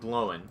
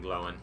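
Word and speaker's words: Glóin: can juke them and get them to run into dane and glowin should be saying dying and glowing that's how you actually pronounce them uh but if i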